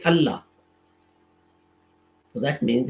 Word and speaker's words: Allah: if it's both the words should be separately pronounced but we don't we say allah so that means it's not it means allah